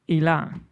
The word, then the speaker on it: Ilan: however you want really in hebrew you say ilan so go ahead and